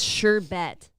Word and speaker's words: sherbet: There's no R. It's sherbet. Sherbet.